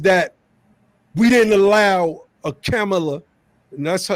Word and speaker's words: Kamala: obama's presidency is that we didn't allow a camela and that's how you pronounce her name not kamala kamala kind of ghetto size is her name and makes it acceptable no her name is pronounced camella and we see that we're not going to